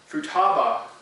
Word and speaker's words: Futaba: Let me make sure I pronounce it right. Futaba is actually how it's pronounced, but Futaba is located on the eastern coastline of the Fukushima prefecture.